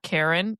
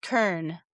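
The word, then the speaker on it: Cairn: Karen. Karen. Yeah, Karna. It's pronounced Karna.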